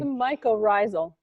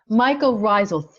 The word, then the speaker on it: mycorrhizal: Justine, can you pronounce that for me? I know she'll help me. Come on, somebody help me. Mycorrhizal. Mycorrhizal.